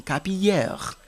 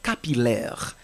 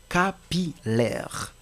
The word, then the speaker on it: capillaire: lettre L facultative maintenant nous allons considérer le mot capillaire que parfois des personnes prononcent comme capilère non c'est capillaire même si ce mot a une ressemblance avec le mot brouillard ouais brouillard mais vous n'allez pas lire capilère mais c'est plutôt capilaire autre mot c'est le